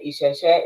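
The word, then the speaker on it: Ìṣẹ̀ṣẹ̀: So Oju is spelled OJU, and Isheshe is spelled Isese.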